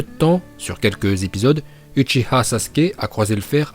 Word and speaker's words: Uchiha: On me reproche de mal prononcer Uchiha, et d'après certains c'est Uchiwa. Eh bien non, vous vous trompez. Ce n'est pas parce que dans la VF ou dans les vidéos de certains youtubeurs manga, vous avez entendu Uchiwa que c'est la bonne prononciation. Regardez dans la version originale, c'est bien Uchiha.